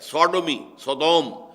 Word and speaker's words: Sodom: منسوب کیا گیا ہے، سوڈومی، سودوم وہ شہر تھا، صدوم جس کو ہم کہتے ہیں، سوڈوم SODOM، یہ بائبل میں اس کا تلفظ ہے، تو اس سے